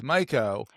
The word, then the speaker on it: Maiko: your name is spelled, it's Maiko, but it's not Maiko, it's Maiko. It's kind of like a Mike.